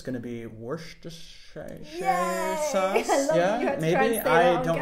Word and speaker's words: Worcestershire: say it in german it's just called worchester sauce it's well we would say worcester sauce we ignore all of the letters so you're going to